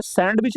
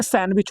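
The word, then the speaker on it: sandwich: English में तो ये सैंडविच नहीं होता है। ये सैंडविच होता है। क्या होता है? सैंडविच होता है। इसमें साइलेंट क्या मिलता है हमें? तो इसमें साइलेंट डी मिलता है।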